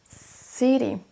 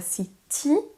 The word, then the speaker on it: city: City. Pour dire une ville, on ne dira pas city, mais city. On accentue sur la première syllabe.